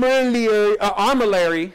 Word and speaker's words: armillary: like the brilliant sphere let me pronounce that right some of the you know that'll be that one comment that keeps filling the thread you didn't pronounce it right still not getting it huh um armillary there it is armor larry sphere okay what is it